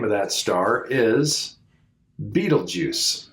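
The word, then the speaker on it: Betelgeuse: of that star is Beetle Juice it's not spelled like the movie uh but it's pronounced the same way Beetle Juice which is kind of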